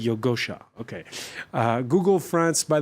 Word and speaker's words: Yogosha: of yogosha it security did I pronounce that right yeah perfectly yogosha okay uh Google France